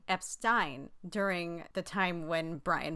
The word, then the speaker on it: Epstein: of people who have been recorded saying EP Stein during the time when